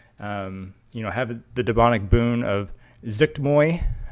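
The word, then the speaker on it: Zuggtmoy: the demonic boon of Zuktmoy, I think that's how you pronounce it, Zuktmoy, that's how I say it, like you're sneezing almost.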